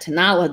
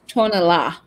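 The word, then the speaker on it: Tonalá: I'm trying to remember how Chrissy told us it's supposed to be pronounced. I think it's Tonala. Tonala, yeah.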